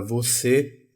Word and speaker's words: você: circunflexo no na palavra você para indicar que esse e é fechado é você e e e não você é e é com a